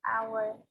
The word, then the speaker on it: hour: An hour. Kenapa pakai n? Haknya nggak kedengeran.